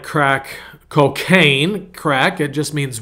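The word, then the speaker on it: craic: He goes, so he goes, we're going to crack on and keep at it.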